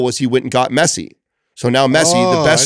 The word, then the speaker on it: Messi: So M-E-S-S-I. Is it Messier? Is that how you pronounce it? Messi? No, it's Messi.